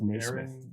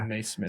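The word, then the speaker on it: Nesmith: smith knee smith okay there's no i in it by the way yeah no it's just new smith smith oh okay so it's definitely not so maybe it's yeah denise smith sorry if we've butchered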